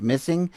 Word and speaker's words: MSSNG: this page here that this mssng pronounced missing is a groundbreaking collaboration